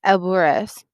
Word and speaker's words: Alvarez: my name to myself, opening my mouth wide for the organ blast of the A, trilling my tongue for the drumroll of the R.